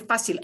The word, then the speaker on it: fácil: So, muy fácil.